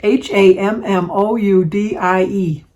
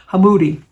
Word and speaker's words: Hamoudi: Hammoudie. No, D-E. Hamoudi. And I really thought that,